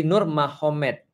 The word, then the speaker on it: Nurmagomedov: Muhammad jadi mahomed jadi tulisnya magomed Tapi bacanya mahomed kan gitu kan Ya jadi Nur magomedov itu jadi Nur mahomed Jadi maksudnya Nur Muhammad